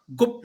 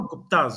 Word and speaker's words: Gupta: वो गुप्त हम्म। Basically, they were not गुप्ताज। गुप्त, हम्म। ओके। चंद्रगुप्त मौर्य, उसको स्पेल हम GUPTA करते हैं, बट उसकी हम्म। प्रोनाउंसिएशन GUPT है।